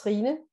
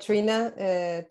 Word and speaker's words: Trine: My name is Trina. In Danish, it's Trine. But Trina, Trini, whatever works, it's the pronunciation is can be a little bit tricky.